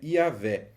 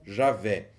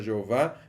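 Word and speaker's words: Yahweh: é a transliteração e pronúncia os usual é yavé ou Javé é muito comum encontrarmos defesas da pronúncia Jeová mas ela não se sustenta historicamente o credo apostólico credo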